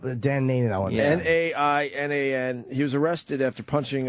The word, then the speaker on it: Nainan: Nanan? Can you look him up? Dan Nanan, I want to Nainan.